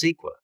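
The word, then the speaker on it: CEQA: Environmental laws like the California Environmental Quality Act, pronounced SQA, also play a role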